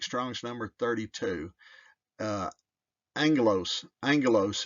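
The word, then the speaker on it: ἄγγελος: number 32 uh anglos Angelos is the pronunciation they didn't have a j sound yet at that time there was no J sound so it was an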